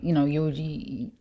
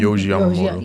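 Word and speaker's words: Yohji Yamamoto: But like how that jacket over there was like Wise, but then like Yogi, how you say his name? Yoji Yamamoto.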